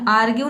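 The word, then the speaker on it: argue: जैसे कि यहाँ पे देखिए आर्ग्यू, ठीक है, आर्ग्यू, इसमें आर्ग्यू नहीं आपको पढ़ना है, यहाँ पे जो आर लेटर है इसको साइलेंट रखना है, आपको बोलना है आर्ग्यू।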